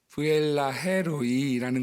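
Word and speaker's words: 브엘라해로이: 문제의 답을 부엘라헤로이라고 하는데 보통 우리가 뭐라고 끊어읽느냐면 부엘라헤 로이라고 읽거든요. 로이라고 하는 것이 하나님의 이름이에요. 그런데 그분이 그걸 의미를 잘 모르니까 아무리 성우가 아나운서지만 의미를 잘 모르잖아요. 그래서 부엘라 헤로이 이렇게 읽었어요.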